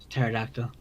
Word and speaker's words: pterodactyl: a big long word silent p by the way at the start pterodactyl celes celesmophilia it cut